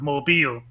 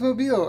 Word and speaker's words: Mobile: Hope you don't have any southern viewers that are going to attack you for your pronunciation of Mobile. Oh, it's Mobile.